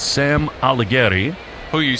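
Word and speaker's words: Aldegheri: It's Sam Aligeri.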